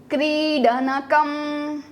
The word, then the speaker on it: क्रीडनकम: Coming to this, खिलौने को कहेंगे क्रीडनकम क्रीडनकम। क्री को हमें दीर्घ मात्रा में उच्चारण करना है।